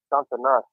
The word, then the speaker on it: Santana's: It's Santana's. Okay. Santana's. Okay. Yeah, that's how you pronounce that.